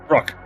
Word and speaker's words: Rook: Rook. It's one goddamn syllable.